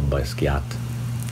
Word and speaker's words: Basquiat: very basic leaf who's also friends with jean-michel Basquiat that's how you say it let me know